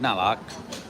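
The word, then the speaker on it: น่ารัก: Nalak.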